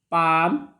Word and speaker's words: palm: Next is calm. L is silent before M. Calm, palm, balm, and many more words.